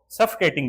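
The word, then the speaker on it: suffocating: सफोकेटिंग सही उच्चारण है सफोकेटिंग ज्यादा सही उच्चारण है सफोकेटिंग सफोकेटिंग यानी दम घुट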